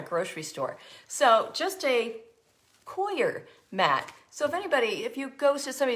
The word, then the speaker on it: coir: Coir, pronounced Coir. No, they said it was foyer, like pronounced like foyer.